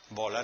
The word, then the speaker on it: bola: Bola, ¿no? Bola es llana.